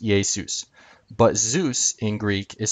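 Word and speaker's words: Ἰησοῦς: this is another form same letter and it's pronounced yesus but zeus in greek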